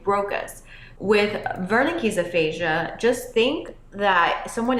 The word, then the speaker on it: Wernicke's: With Wernicke's aphasia, just think that someone is talking to you, perhaps in a different language, and you don't understand. So in German, the W is pronounced as a V.